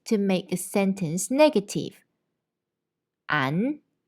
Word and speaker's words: 않: And they are both pronounced the same. 안.